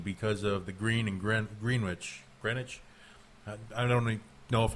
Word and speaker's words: Greenwich: of the green and gritch Greenwich, I don't know if I'm even pronouncing it right. I say green witch, but everybody says I'm wrong, but I'm a green, so it's okay.